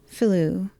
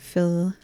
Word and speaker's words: Philou: As a child, your parents sent you to stay for a summer in Albion with your uncle Philou. How's that pronounced, by the way? Philo. Philo. Like the dough.